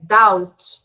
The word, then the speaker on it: doubt: world have back a doubt we do not pronounce the b okay the letter b here is silent down doubt down okay number